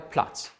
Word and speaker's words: Platz: TZ wird Z ausgesprochen, zum Beispiel der Schatz oder der Platz. Der Schatz, der Platz.